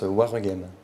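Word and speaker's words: Waregem: Non, on prononce Warregem.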